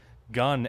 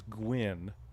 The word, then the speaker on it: Gwynn: Gunn actually is Gwynn. Just making sure I pronounce that right. I said Gunn. But it's g u i n n who's at first base, so Gwynn. Like penguin. So apologies for the mispronunciation of the name.